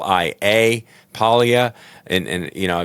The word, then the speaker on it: Paglia: on it's Scott P a l i a Paia and and you know I apologize for pronouncing it incorrectly earlier that's an oversight on